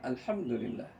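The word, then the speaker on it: الحمد لله: yang membacanya dengan sempurna alhamdulillah alhamdulillah ya bukan with hamil hamil hamil itu nanti rusak nanti baca Quran kita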